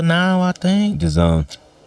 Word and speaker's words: DAZN: It's all on Danza now, I think. DAZN. DAZN. That's how it's pronounced. I know it's spelled Danzin, but it's pronounced That's DAZN.